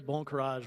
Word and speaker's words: bon courage: The phrase bon courage rhymes with another French phrase that you probably already know, bon voyage, which seems like a great way to end our time together.